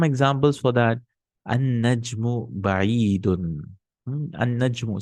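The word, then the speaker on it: النجم: An-najmu. See, I'm not saying al-najmu. I'm saying an-najmu ba'idun.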